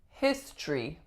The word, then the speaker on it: history: Next up, we have history, history. This one looks like it should be history, history. But in fact, we delete that syllable, we link, and we usually get history, history.